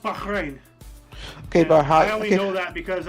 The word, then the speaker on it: Bahrain: 110 years of British rule yeah uh it's pronounced Bahrain okay you know that because I have family